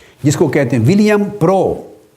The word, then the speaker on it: Prout: کو کہتے ہیں ولیم پرو، سپیلنگ لکھیں گے PROUT، مگر ٹی سائلنٹ ہے پڑھنے میں، ولیم پرو۔ تو 1785 سے 1850